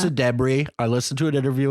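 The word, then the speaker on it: Ayo Edebiri: and IO debris also I've been saying IO Deb's name wrong for so long we talked about her so much in the bear and I kept saying and lots of people say edir yeah it's a debris I listened to an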